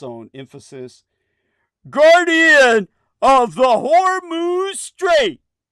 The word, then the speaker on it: Hormuz: emphasis, guardian of the Hormuz Strait, because he would pronounce it with the H, like Hormel. For your information, the H is silent in the naming of the strait.